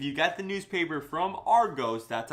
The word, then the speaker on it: Argos: So yes, in the UK, if you got the newspaper from Argos, that's how you pronounce it, you were going to see an advertisement for the MAVIC 2, a drone that's not even out yet.